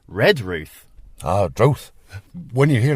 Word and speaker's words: Redruth: When you got that unstressed first syllable, it does, in the sounds of the older people, virtually disappear. So you'll hear Redruth, you'll hear Penzance. The first syllable is scarcely heard.